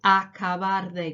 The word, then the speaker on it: acabar de: Okay, acabar de. Get your mouth around that pronunciation. Say it a few times out loud. Acabar de, acabar de, acabar de.